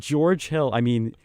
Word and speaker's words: George Hill: It rhymes with Storage Jill. So that's what he came up with. With George Hill, they gave him that contract after his first year with the Bucks.